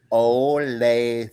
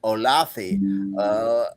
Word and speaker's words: Olathe: Kansas City, right outside of Kansas City, called Olathe, and the guy mispronounced Olathe throughout, and I would have to go, come on now, Olathe, and he would go Olathi, Othello.